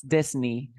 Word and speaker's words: Disney: Yes, it's Disney, because we have the word Sydney. ¿Te acuerdas la word Sydney? Disney, Sydney.